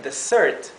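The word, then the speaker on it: dessert: Desert es postre s no solamente cambia la pronunciación de la s sino que también cambia la sílaba tónica en Desert que es desierto la sílaba la primera sílaba mientras que en Desert que significa postre la sílaba tónica es la segunda sílaba la última y tenemos destitute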